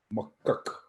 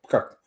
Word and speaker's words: makak: And then I have my other noun is a makuk. You can say makuk or kuk. The M is silent here.